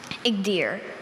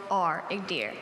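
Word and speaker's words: Igdyr: Igdir. I-G-D-Y-R. Igdir.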